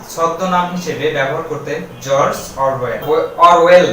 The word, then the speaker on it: Orwell: Pen name বলা হচ্ছে ছদ্মনাম হিসেবে ব্যবহার করতেন জর্জ অরওয়েল না, ঠিক আছে, অরওয়েল। তো আমাদের প্রোনাউন্সিয়েশনের দিকে একটু নজর রাখতে হবে।